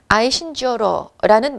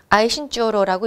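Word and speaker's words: Aisin Gioro: 이분이 김괄이라는 여성분인데 애신강라, 아이신주어로라는 만주어로 이렇게 아이신주어로라고 읽고 한자로 바꾸면 이게 한 글자 금이 됩니다.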